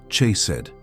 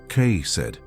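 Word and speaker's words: חסד: The Hebrew word that defines exactly what is happening to you is chedd. Pronounce it with me. K said.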